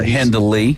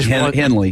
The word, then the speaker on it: Hendley: Yeah, Hendley. Hendley. Yeah. But we sometimes say it without the D, like Henley.